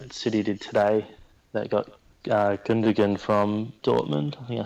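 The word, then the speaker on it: Gündoğan: and sign like city did today they've got Goggin digan from Dortmund yeah I said it right I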